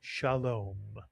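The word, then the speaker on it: שלום: Two vowels, two syllables. The word is read shaalom. Shalom.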